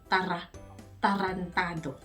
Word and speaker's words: tarantado: So, tarantado. When you're saying R in Tagalog, you need to roll your R's more. So, tarantado.